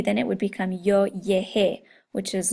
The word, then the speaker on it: llegué: You're also going to change a G to a GU before an E, and that's for the same reason. So it maintains the hard G sound instead of the soft G sound.